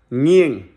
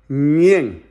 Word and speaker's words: Nghiêng: It has 7 letters. It is pronounced like it has only one syllable. Nghiêng. You see? Nghiêng.